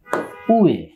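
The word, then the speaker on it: 上: এটা বাংলা উচ্চারণ হচ্ছে উয়ে, মাত্র তিনটে স্ট্রোক কিন্তু।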